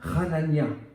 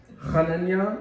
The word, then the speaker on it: Hanania: Ananias, en hébreu, je vous le prononce, Hanania. Hanania, ça signifie la grâce.